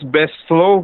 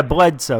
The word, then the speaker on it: Bledsoe: Chris Bestlow? I don't pronounce his name right. Yeah, Bledsoe. You got it.